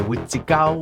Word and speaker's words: Wîhtikôw: Selon la langue, ça se dit aussi Wendigo, ça se dit Witiko, ça se dit Witikau, bref, il y a plusieurs façons de le prononcer, puis je vais tout